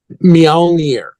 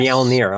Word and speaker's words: Mjölnir: So the new album is Mjölnir. Is that how you pronounce it? Mjölnir. Yes. Mjölnir.